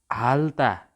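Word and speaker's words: 핥다: र थ आएको छ भने रको मात्र उच्चारण हुन्छ। यहाँनिर के छ त? हाल्ता।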